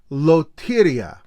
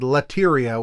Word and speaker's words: Lotteria: you may also like, and it sent me Loteria, which is, and that's how they say it in the commercial. Because in my video, I said Lateria, which is a very just, dumb New Jersey guy reading the word.